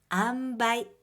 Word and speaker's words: 塩梅: とをいい塩梅と言います。漢字は塩と梅と書いて塩梅と読みます。